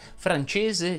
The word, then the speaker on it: francese: dice attesa intesa inglese francese leso teso eccetera eccetera non che sia importante ma ti faccio notare che come abbiamo visto in questo video francese si può pronunciare con la s sonora mentre inglese andrebbe pronunciato